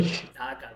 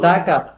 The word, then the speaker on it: Dhaka: Dhaka, not Taka.